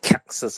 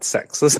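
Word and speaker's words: CEXes: And all of us, I think, have faced challenges when it comes to, well, I don't like the way Carp pronounces it as Caxes. I still prefer sexes.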